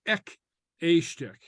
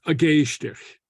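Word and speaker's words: ag éisteacht: Sometimes learners try to pronounce this as we would in English, ek estich. That's not how you pronounce it. The pronunciation is, and I'll just put this here, pronunciation agestich is something like gestich. You see the G slides over to be pronounced with the verb, with the verbal noun. So it's agestich, okay, not ek estich, okay?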